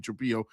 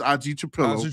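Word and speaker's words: Trapilo: I'm saying it wrong. I keep saying Azie Trapo. It's AI Trapillo.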